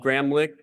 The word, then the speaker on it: Gramlich: Gramlich, that's pronounced with a K at the end, is going to moderate this session.